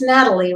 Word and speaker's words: Nathalie: as my guest today Natalie is it Natalie it's Natalie right am I pronouncing that right Natalie so she said yes